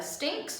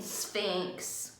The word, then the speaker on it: sphinx: the sphinx today we learned about the stinks mama said bill you mean sphinx said bill said p and boy it is weird looking so he said it wrong and then pete helped him and corrected it on wednesday ms evis